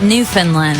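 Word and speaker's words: Newfoundland: happened in is it New Foundland I think New Foundland you say it like New Finland okay New Finland I'm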